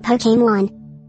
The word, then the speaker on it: Pokémon: Lan words e e accent is often pronounced as a or e as in fiance expose Etc so therefore Pokemon would likely indicate to most English speakers that the word is pronounced Pokemon surely the accent is